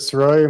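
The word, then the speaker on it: Sirois: My name is Soy. My last name is spelled S I R O I S.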